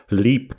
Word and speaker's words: Leap: a castle in Ireland, Leap Castle, or I think it's pronounced Lep Castle in Offaly.